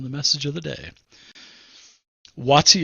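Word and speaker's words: Waatzy: Watsy is spelled W-A-A-T-Z-Y. Watsy.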